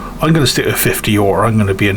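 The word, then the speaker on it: øre: it's pronounced or or it's more of a ur than an o e. So, I'm going to stick with 50 or I'm going to be an ignorant so and so.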